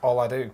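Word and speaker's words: Ola Dubh: a car anyway there all i do it's pronounced all i do you're right well i do well i do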